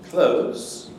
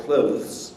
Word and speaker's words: clothes: you can also pronounce clothes without the and just like close the door this doesn't mean to say that months or clothes is wrong no no